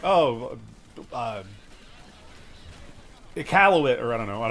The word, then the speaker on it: Iqaluit: It's Iqaluit. It's pronounced Iqalit, as far as I'm aware.